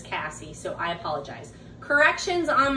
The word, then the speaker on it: Cassie: i might have just kept saying casey casey casey and i watched a video and it's cassie so i apologize corrections